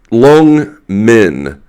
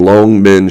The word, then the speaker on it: Longmen: the pictures of uh long men uh long men means uh Dragon's Gate long um second tone Rising tone long men I'm probably saying it